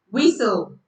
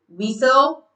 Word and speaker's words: whistle: No, the T is silent. You don't pronounce the T. So it becomes castle, listen, whistle, fasten.